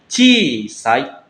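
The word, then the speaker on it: 小さい: Kebanyakan orang-orang itu salahnya itu harusnya Ci-nya itu panjang. Ci, kayak gitu ya, minasang, bukan Chisai, tapi Chisai. Nah, kadang-kadang di tesnya itu ada dua pilihan. Ada Chisai, ada juga Chisai. Nah, kadang-kadang ada yang milih Chisai doang, makanya salah. Yang benar itu panjang. Chisai.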